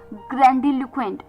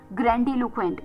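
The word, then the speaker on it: grandiloquent: ग्रैंडलक्वेंट।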